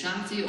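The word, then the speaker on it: शांति: Translate to figure out how to say it. And it's Shanti or which is Hindi for peace and resistance. So when we get to that point, Shanti.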